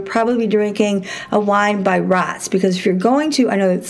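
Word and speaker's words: Raats: drinking a wine by rats because if you're going to I know it's a weird name it's R double a t s I'm pretty sure it's pronounced rice I've met all these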